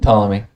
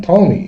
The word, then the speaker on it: Ptolemy: it's all about king solomon is the king tommy ptolemy sorry king ptolemy is the king and if you have any